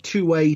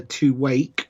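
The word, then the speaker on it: Tuwaiq: I don't believe you pronounce the Q. Is it two-way? Two-way. The Q is at the end, so I believe it is either two-wake or just two-way.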